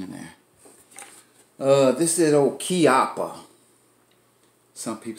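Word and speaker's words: Chiappa: This is old Chiapa. Some people say Chiapa, but it's a Chiapa. That's the way they pronounce it over in Italy.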